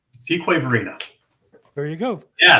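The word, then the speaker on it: Fuquay-Varina: and let's see Matthew price says he's in fukari Verina fqu Verina there you go yeah it's not pronounced like it's like it looks like right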